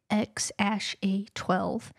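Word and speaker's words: X Æ A-12: But apparently it's X-A12. The X is just X and the A12 is just A12, he said to Joe Rogan.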